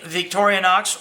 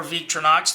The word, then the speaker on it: Victorinox: be looking at the victoria knox or viktor knox depending on how you say it uh camper i like